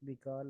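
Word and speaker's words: Baikal: Pronunciation check कर लें Google से। बिकल है, ये बिकॉल है। लेक, चेक करें क्या प्रोनाउंसिएशन है। लेक बिकल जो है वो रशिया में है। और रशिया भी एशिया में है। एशिया, बेकाल है, चलो ठीक है।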